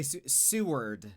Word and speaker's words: Seward: They had a fireworks display and uh you say Seward, but it's spelled like sewer but with the D at the end.